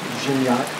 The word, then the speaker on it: Gignac: Master Sergeant Raymond Gignac, Gignac it's spelled. My wife says it's Gignac in French. She ought to know.